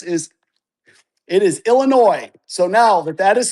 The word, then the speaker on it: Illinois: TPC Deere Run is a premier 18-hole par-71 public championship course located in Silvis, all together now, Illinois. Yay, no S.